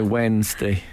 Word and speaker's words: Wednesday: Because my mate Dan always says that I'm pronouncing the middle bit. That Yeah, you don't. You show the D a lot of love.